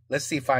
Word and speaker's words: Y: Il y a même une commune dans la Somme qui s'appelle I. C'est un Y mais ça se prononce I.